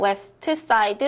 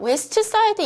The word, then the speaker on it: West Side: 자, 자음 소리가 3개 있을 때 중간 자음은 탈락입니다. 자, 이게 무슨 뜻이냐? You should go to see the musical West Side Story. 자, West Side 이렇게 발음을 안 하고요.